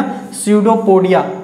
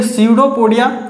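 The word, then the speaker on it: pseudopodia: लोग बोलते हैं क्या पीएसईउदोपोडिया ठीक है पीस साइलेंट होता है इसमें ए तो पता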